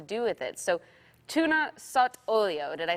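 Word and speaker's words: sott'olio: So tuna sot olio, did I say it properly?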